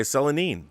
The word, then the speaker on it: Selene: first shown and yes it's pronoun pronounced uh cel silicone or knee selene selanine selanine okay selanine there you go i